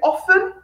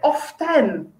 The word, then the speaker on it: often: Is it often or is it often? Do we pronounce the T or not?